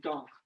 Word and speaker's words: Dank: Except dunk. Feeling I don't dank. like that. D-A-N-K, but say dunk.